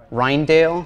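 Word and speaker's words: Rijndael: Sometimes it's also called the Rindell. I don't know how to pronounce if I'm pronouncing that right. What is it? Reindale. Reindale. Okay.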